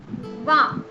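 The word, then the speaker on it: vingt: Wa. Wow. G is silent here. G and T both are silent. And so we are calling it wa.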